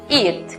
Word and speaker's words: eat: Por ejemplo, la unión de la vocal E con la vocal A en la misma sílaba se pronuncia I, como en comer, eat.